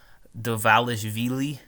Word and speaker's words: Dvalishvili: weekend's UFC Fight Night pyder yawn fights marab devalis Veely that's how you say his name yeah you